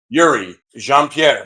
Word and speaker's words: Youri Jean Pierre: my name is Justin de Julio joined by Yuri jeanpierre there you go you got it you got the pronunciation correct uh we're coming at you live